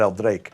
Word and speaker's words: El Draque: And we're going to start with a drink that they call the prototype for the Mojito, El Draque. Or maybe you do pronounce that El Drake, which means the dragon,